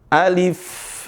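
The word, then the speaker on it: ألف: Alif, alif. Jadi A-nya dibaca alif. Nah, seringkali dibaca pakai E, alif. Bukan E, alif, tapi pakai I, alif, ali.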